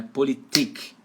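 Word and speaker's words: Politik: de politique em alemão a sílaba tônica fica em cima do último I Então é politique você vai dar ênfase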